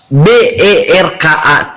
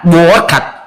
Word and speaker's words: Berkat: Contohnya nama saya Berkat. Di dalam kamus KLBI bahasa Indonesia BERKAT dibacanya Berkat, bukan Boakat.